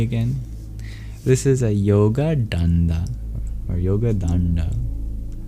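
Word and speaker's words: daṇḍa: Y O G A space D A N D A. But the N and D in the middle of dand are retroflex. Curl your tongue back if you want to pronounce it in Sanskrit.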